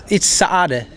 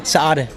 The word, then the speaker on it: Saade: Yeah, no, it's Saade. So there is a slight gap. Yeah, exactly. You need to pronounce it with a double A. So yeah, Saade.